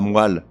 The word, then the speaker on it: moelle: de leur correct prononciation on ne dit pas la moelle mais la moelle ou un ou une